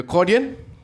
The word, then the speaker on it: accordion: Okay, the accordion. Alright, in Malay we don't pronounce it as ACC lah, so we pronounce it accordion.